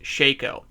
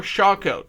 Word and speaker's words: Shako: helmets the Harlequin crest Shaco or Shaco don't yell at me both pronunciations work I checked sheikha Shaco both of them are great I know a lot